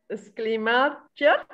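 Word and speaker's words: Schleiermacher: Okay, Schleiemacher. Schleiemacher. So I will not pronounce the S. Yeah, the S-C-H is sha. Sha.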